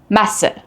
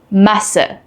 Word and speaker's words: Masse: While both are pronounced the same unvoiced S, they affect the vowel before them. A double S shortens the vowel and an SZ lengthens the vowel.